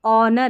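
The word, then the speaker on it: honour: अब इसको देखिए ऑनर है। इसमें भी एच साइलेंट है।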